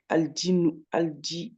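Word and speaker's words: الدين: aldinu, aldinu. Voilà, c'est ça. Ouais. Juste là, c'est juste, juste ne prononce pas le lemme.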